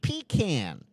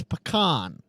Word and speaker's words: pecan: It's not pecan. It's pecan. Pecan is something you use when you're driving down the road and you don't want to stop. Yeah. No, it's pecan. Oh, Josh, you may have